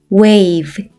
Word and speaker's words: wave: W는 어떤 발음이 나나요? 맞아요. 우, A는 A, V는 V. 한 번에 읽으면 wave, wave.